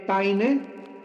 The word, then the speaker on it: Payne: Barton, Payne se escribe P-A-Y-N-E, Paine, J.